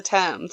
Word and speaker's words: Thames: yep this is it I don't know how to pronounce it I always say Thames but no that's not right is it times two Thames it's the Thames that's what it is